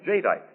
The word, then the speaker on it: jadeite: new anchor glass heat proof dinnerware known as jadeite and that's spelled j-a-d-e-i-t-e jadeite now j-tite has the beauty of fine